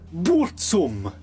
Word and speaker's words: Burzum: records under the name Burzum, or as he pronounces it, Burzum.